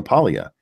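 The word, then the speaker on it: Paglia: and watch is Camille Pia and that's spelled with the G guys p a LG a um but the G silent she is a hardcore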